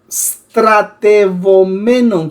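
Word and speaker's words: στρατευομένων: Ahí tenemos la palabra, escúchelo bien porque es un poco difícil de pronunciar, estratevomenon. Stratevomenon con V.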